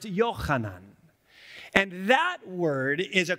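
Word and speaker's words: יוחנן: common name in english in hebrew it's not pronounced john it's pronounced yochanan and that word is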